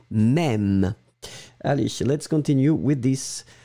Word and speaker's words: même: And the last thing is même, elle-même, M-E. If you've got this circumflex on your keyboard, please put it, M-E. M-E, accent circonflexe, M-E, elle-même. Remember, this circumflex really opens the sound, E-E-E, même.